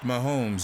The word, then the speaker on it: Mahomes: Mikasa Mikasa no homeys pronounced mahomes in both English and Spanish the reigning MVP for